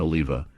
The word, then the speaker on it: Oliver: In the show, Lisa Douglas often calls her husband Oliva, which is a Hungarian pronunciation of Oliver, sounding like Oliver.